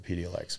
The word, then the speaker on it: Epidiolex: I believe that's how it's pronounced, Epidiolex.